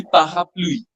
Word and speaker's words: parapluie: And that umbrella is very difficult to pronounce. It will be parapluie, Parapluie.